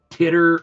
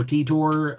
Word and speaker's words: Titor: So it's like Titter or Titor. I just say Titor because that's how I've heard it in the past.